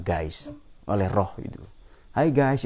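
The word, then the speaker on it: Geist: oleh ada yang Hakiki namanya gais atau tulisannya ya baca bacanya dalam bahasa Jerman guys oleh roh itu Hai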